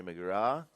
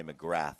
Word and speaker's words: McGrath: We just had another wave red and Terry McGrath. Now, do you pronounce his name McGrath or McGra? Because there's th at the end. Us crazy Americans say McGrath, but here they say Mcgra.